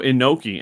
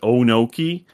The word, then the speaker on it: Inoki: He says he's better than Antonio Inoki, and for some reason Callis pronounced it Onoki.